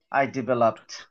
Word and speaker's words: developed: আর এই যে PED, এইটার উচ্চারণ হবে টি এর মতো রাইট তাহলে আই ডেভেলপড লাস্টে ঠয় এর মতো উচ্চারণ বুঝতে পেরেছেন আই ডেভেলপড